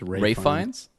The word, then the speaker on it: Ralph Fiennes: The other movie I went and saw is The Menu, starring Ralph Fiennes, Anya Taylor-Joy, I think it's Ray Fiennes.